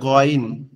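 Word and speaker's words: غين: আইন আইন আইন আইন এরপরে হচ্ছে গইন গন অক্ষরটা কোথা থেকে উচ্চারণ হবে গন অক্ষরটা আমাদের কন্ঠনালীর শেষ ভাগ অর্থাৎ আমাদের এই যে গলার দাড়ির সাথে যে অংশটা লেগে আছে এখান থেকে অর্থাৎ মনে হবে আওয়াজটা গলার গালের মধ্যে থেকে আসতেছে আওয়াজটা মনে হবে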